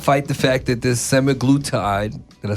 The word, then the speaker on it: semaglutide: but they can't fight the fact that this semaglutide, did I say it right? Yep. Okay, semaglutide and the Ozempics, the Mounjaros, the Wegovys is effective and is out here working.